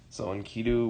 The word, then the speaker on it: Enkidu: so the gods son and ki do that spelled like this soin key do was I guess there's various translations but he